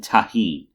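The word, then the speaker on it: tahini: But it was mango snow topped with caramel, chamoy, and tahine. Right? Yes. Hooray, I actually pronounced something correctly.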